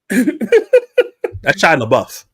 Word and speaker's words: Shia LaBeouf: That's Shia LaBeouf. Okay. That's very close to what you said. Leave me alone. Yeah, go ahead. Her name is Jennifer Garner. First of all, she's Shia LaBeouf.